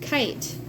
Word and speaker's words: kite: But in this word, kite, the long I sound is made with a silent E at the end.